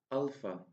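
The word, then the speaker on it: άλφα: Alpha. Alpha. The sound of alpha is the same as the a sound in father.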